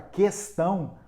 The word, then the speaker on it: questão: Uma pessoa me corrigiu dizendo assim, olha, a palavra questão, o U não leva trema, então ele não é pronunciado.